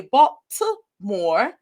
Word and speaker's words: Baltimore: But I've also lived in Baltimore, or we say Baltimore with a T, but everyone from Baltimore pronounces it with a D.